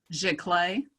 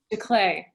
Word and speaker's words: giclée: Giclée. Giclée, thank you.